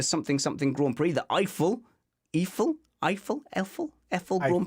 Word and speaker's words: Eiffel: anyway it's a long story okay but it's eiffel everyone's pronounced it iphone the point is you and i have got